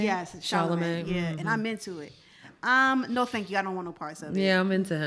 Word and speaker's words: Chalamet: Yes, Chalamet.